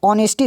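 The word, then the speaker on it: honesty: four Lagos ठीक अब ऑनेस्टी देख लो पहले में एच है तो नेस्टी बोलेंगे मत सोचना इसको हम लोग पढ़ते ऑनेस्टी है ना अ से स्टार्ट होता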